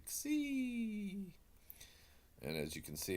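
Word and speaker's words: xi: That's the ksi, the ksi. And it actually is kind of, if you were to combine, say, the middle of the two words, look-see, it's ksi.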